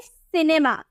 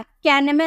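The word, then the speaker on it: cinema: इस तरह से यानी यहां पे आपको सी के बाद आई नजर ए रहा है ना आएं नजर ए रहा तो हम इसे क्या प्रोनाउंस करेंगे सिनेमा सिनेमा कयानेमा नहीं यहां पर हम सी को के पड़े है ना तो इसे किमा नहीं बदलेंगे इसे हम सिनेमा नहीं बोलेंगे सिनेमा बोलेंगे ठीक है तो आप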